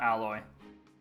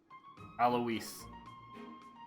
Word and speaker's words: Alois: Not Alloy. Alois.